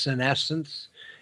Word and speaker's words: senescence: It's often pronounced senescence, Okay.